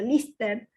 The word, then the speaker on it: Liste: Y entre sus largometrajes destacan Santa Libertade, de 2004, Liste, pronunciado Lister, 2007, A Cicatriz Branca, 2012, Nación, 2020, entre otros.